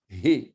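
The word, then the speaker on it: ה: C'est de là que ça vient, He. Mais on prononce ici cette lettre He. Il y a un souffle, on doit entendre le souffle.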